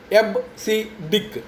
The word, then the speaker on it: EBCDIC: Now coming to the next non-numeric, that is alphanumeric code is EBCDIC, where this EBCDIC is pronounced as EBCDIC.